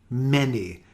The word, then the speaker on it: many: don't see very often for example many with an a this is very irregular a i is also